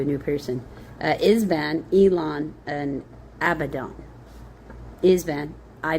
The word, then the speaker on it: Elon: Uh Ibzan, Elon, and Abdon. Ibzan, I B Z A N. Elon, E L O N. Kind of like Elon. Okay. Uh actually we'll say it that way. Elon.